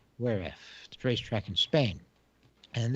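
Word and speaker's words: Jerez: they raced in where f i've i've been pronouncing it jiras or whereas but apparently it's pronounced whereif the racetrack in spain and this is the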